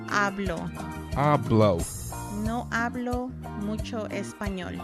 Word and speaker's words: hablo: The H is silent in Spanish, so it's hablo.